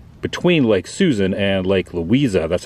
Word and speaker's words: Louisa: So it says Claremont there, the corner, well, not the corner, but the between Lake Susan and Lake Louisa, that's how you pronounce it.